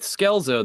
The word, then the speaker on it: Scelzo: So I compromised with him after kind of pushing back for quite some time uh with Skelezo the pronunciation you know changing the way that I